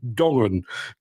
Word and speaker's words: Dongen: And apparently, first pronunciation was spot on. Dongen.